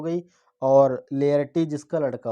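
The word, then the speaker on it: Laertes: और लिएस्टर नहीं, लेयर्टीज, जो लेयर्टीज है ये इसका सन है। ठीक है, यानी पोलोनियस के 2 बच्चे हैं, एक ओफेलिया हो गई, ओफेलिया इसकी लड़की हो गई, और लेयर्टीज इसका लड़का हो गया।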